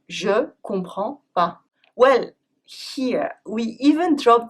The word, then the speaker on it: Je comprends pas: Je comprends pas ! is often pronounced “Jcomprends pas” Well here, we even drop the pas !